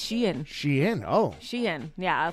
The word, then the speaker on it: Shein: all the time okay it's pronounced shein but a lot of people say Sheen it's she I thought it was Sheen no it's shein Sheen oh Sheen yeah